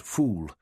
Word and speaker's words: foul: Wycliffe asked Cat as they sat sharing the Egyptian national dish, a hearty plate of spicy broad beans known as foul, but pronounced fool.